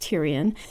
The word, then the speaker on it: Tyrion: liked Olenna and Brienne for girls, Theon and Tyrion for boys. I guess you can see my clear naming preferences. I can't believe the name Tyrion, it's pronounced Tyrion, hasn't taken off.